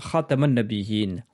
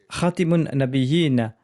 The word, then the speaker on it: Khataman Nabiyyin: a dit Ali, mais je préfère la prononciation Khataman Nabiyyin, car elle signifie le sceau des prophètes. Khatimun Nabiyyin signifie celui qui met fin aux prophètes. Enseigne à mes enfants la prononciation Khataman Nabiyyin avec la lettre Ta.